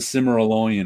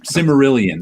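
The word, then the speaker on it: Silmarillion: it it wasn't like the simmer alone or anything like that simarillian there we go i never could pronounce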